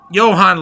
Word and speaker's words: Johan: The Jay is silent, I guess. So, again, they're sweet and banan. I don't I don't know. Um, Johan Lea, his voc like